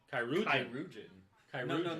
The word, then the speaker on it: chirurgeon: Oh, How do you pronounce it? Surgeon or chirurgeon, chirurgeon, chirurgeon. Chirurgeon.